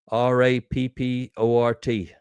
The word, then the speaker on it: rapport: R-A-P-P-O-R-T, pronounced rapport.